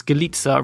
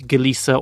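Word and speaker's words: Galica: galita another female driver her father was polish so that's galita rather than like galissa or galika cuz the C in Polish is like a s sound like a TS so deina galita Nani Gali Oscar Alfredo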